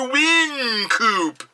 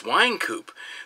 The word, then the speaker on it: Wynkoop: saying his name wrong it's like when people go hey mister we coupe no it's Wynkoop this is mr.